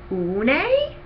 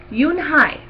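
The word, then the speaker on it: Unhei: "Une?" the girl asked, scrunching up her face. "Une," some kids chanted. No, Yoon Hai corrected. It's spelled U-N-H-E-I. It's pronounced Yoon Hai.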